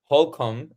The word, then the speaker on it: Holcomb: Uh Hulcom. I should have asked how do we pro pronounce your last name before before we but um is that how you pronounce it right?